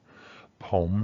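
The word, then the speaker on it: ผม: So we know that the first tone is a rising tone. It's always going to be pronounced down here, and it's always going to have its ideal form.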